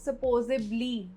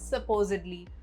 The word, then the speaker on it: supposedly: Supposedly को अक्सर लोग supposably बोलते हैं, but the correct pronunciation is supposedly.